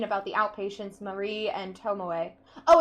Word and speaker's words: Tomoe: However, some doubts remain about the outpatients Marie and Tomoe. Oh, it's Tomoe, not Tomoko.